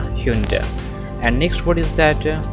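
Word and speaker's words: Hyundai: ह्यूंडई, ह्यूंडई या फिर ह्यूंडाई पढ़ देते हैं, लेकिन इसका क्या हो जाएगा? करेक्ट प्रोनाउंसिएशन है ह्यूंडे, ह्यूंडे, नॉट ह्यूंडाई और ह्यूंडेई।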